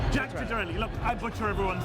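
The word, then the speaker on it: Ciattarelli: Jack Chitter Chitterelli. Yeah. Italian American Chetra. I'm being told by experts on Italian names that it's Chitterelli. Chitterelli. Jack Chitterelli.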